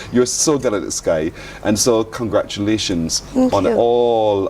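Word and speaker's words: Skai: That's how it's spelled. Sorry, folks. I'm just following instructions. S K A I Sky.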